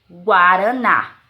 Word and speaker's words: guaraná: possuem o dígrafo jeú já na palavrinha guaraná guaraná Museu não é dígrafo Por que pronunciamos o o guaraná se fosse enganar Gaara na seria dígrafo mais guaraná o Zeo não é dígrafo já como